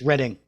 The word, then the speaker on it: Reading: of a woman in Reading on the train line between London and Bristol 6 weeks after his release from Wormwood Scrubs prison. Reading. I'm sorry? It's Reading. It looks like reading, but it's Reading.